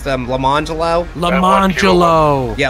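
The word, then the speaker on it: Lamonjellow: it's spelled like lemon jello but it's pronounced pronounced them lamangelo lemoncello yeah lamangelo yeah go ahead and spell it um l-a-m-o-n-j-e-l-l-o-w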